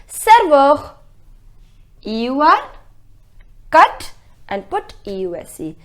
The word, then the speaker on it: serveur: The pronunciation is serveur.